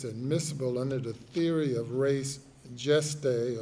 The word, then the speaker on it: res gestae: under the theory of res gestae or res gestae, as some might pronounce it.